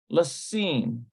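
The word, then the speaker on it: לשים: Here's lamed, sheen. It's actually seen. Lasim.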